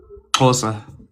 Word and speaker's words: Xhosa: Xhosa. Spell it.